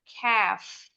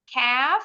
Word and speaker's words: calf: Nah, yang ini L-nya silent. Nggak boleh bunyi. Kalau yang ini tadi K-nya yang silent. Ini bacanya calf. Calf artinya ada 2.